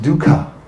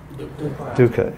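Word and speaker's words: दुःख: the opposite word can you see that that's pronounced dukkha everyone sitting dukkha everyone from India smiling and saying all these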